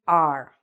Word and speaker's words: are: verb to be are it's actually pronounced like this like the letter r okay if you can